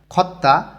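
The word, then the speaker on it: 걷다: বা হচ্ছে পার হওয়া খত্তা হাঁটা ত ধ্বনির পরে যদি আবার ত ধ্বনি আসে তখন দুইটা মিলেই তটা উচ্চারণ হয় খত্তা হাঁটা ছিলগুন সিগান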